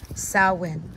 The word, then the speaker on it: Samhain: the sabbath for witches and that is salwin of course i will spelt samhain i'll put it on the screen but it is pronounced sawwin so you can see